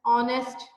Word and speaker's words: honest: जैसे एम में honourable, ऑनेस्ट, तो ऑनेस्ट की अगर स्पेलिंग देंगे HONEST है ऑनेस्ट, तो लेकिन उसकी प्रोनाउंसिएशन देखिए तो ओ से स्टार्ट हो रही है ऑनेस्ट, ठीक है।